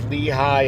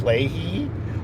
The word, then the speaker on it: Lehi: But then every now and then it would pronounce Lehi as Lehi, or Nephi or Nephi. It really made That's how you say it in Spanish.